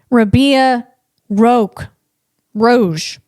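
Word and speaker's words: Rabea Rogge: I'd like to be in a in a capsule with uh her name is Rabia Rogue Roge. Just don't take my word on the pronunciation, okay?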